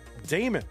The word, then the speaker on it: Daemon: That is I'm told directly from the horse's mouth. That is the canonical pronunciation of that name as far as the player is concerned. So Damon it will be.